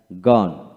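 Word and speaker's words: gone: পড়বেন ওয়ার্ডের ওয়ার্ড বা শব্দের শেষে ই থাকলে ই এর উচ্চারণ সাধারণত হয় না লক্ষ্য করেন এখানে জি ও এন গন গন এখানে জি এন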